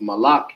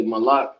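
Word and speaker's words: מלך: king it says uh king is pronounced malak in the ancient or in the hebrew that's how you say my lock and the ancient that's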